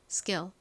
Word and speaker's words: skill: 한국식으로는이 K를 키 소리로 발음을 하는데 어 미국식 원어 발음으로는 SD에 이렇게 K가 온 경우 거의 된 소리처럼 좀 세게 발음하는 경향이 있어요. 그래서 쌍 기억에 가깝게 소리가 납니다. skill skill 이렇게요.